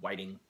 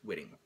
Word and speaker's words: Whitting: last name right that's the only way I can see to pronounce whitting because there's no e so it's not Whiting it's whitting senior and Junior enjoy watching